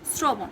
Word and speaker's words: শ্রবণ: শ্রবণে আমরা দন্তস্বর স্ট্রং উচ্চারণটা দেখতে পাই, যদিও এটা তালবস্য দিয়ে লেখে, কিন্তু আমরা এটাকে পড়ি শ্রবণ।